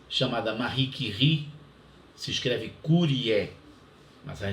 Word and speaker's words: Curie: a a grande cientista não é chamada Marie que ri se escreve Curie mas a gente fala anuncie aqui